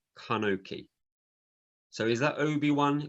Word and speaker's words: Enoch: Okay, because the Hebrew Enoch is pronounced as Kanoki.